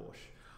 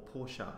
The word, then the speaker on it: Porsche: You know, who doesn't like a Porsche? Or Porsche, as some people say, but I believe the actual pronunciation is Porsche, but correct me if I'm wrong there. So I'm gonna show you